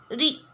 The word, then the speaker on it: ऋ: और इसका उच्चारण हम कैसे करते हैं? री की तरह करते हैं।